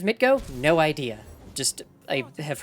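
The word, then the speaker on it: MTGO: Also, why the hell the way to pronounce the acronym is Mitgo?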